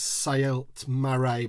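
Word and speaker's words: Saelt-Marae: It's Saelt Marae, but that's the only time I'm going to say that.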